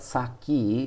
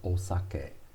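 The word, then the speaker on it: お酒: the native pronunciation so we americans call it saki that to call it saki is totally wrong it's osake using the same kanji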